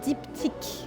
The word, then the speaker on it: Diptyque: So how you pronounce it is Givenchy, and this one is Diptyque.